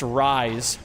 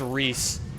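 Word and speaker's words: Rhys: and you're like, "Wow, it would be really cool if that name was pronounced Rise, but instead it's pronounced Reese, which is not nearly as cool, but it's still pretty cool."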